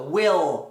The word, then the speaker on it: will: Imagina que você então ao invés de pronunciar Willy, você termina, você engole o som antes de fazer o i. Então, will, will, will, will, l, segue essa direção.